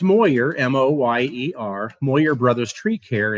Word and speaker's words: Moyer: It's pronounced Moyer, M-O-Y-E-R, Moyer Brothers Tree Care in Belleville, Illinois.